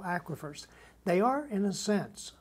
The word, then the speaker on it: aquifers: dictionary to the internet aquafers tell me about aquafers it's actually produced pronounced aquifers aquifers there we are aquifers